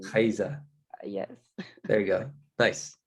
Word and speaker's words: Rayssa: say my name, but it's like it's not the R. It's like we have an H in the beginning of the name. Rayssa.